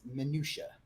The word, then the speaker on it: minutia: But yeah, it's minutia, and and for someone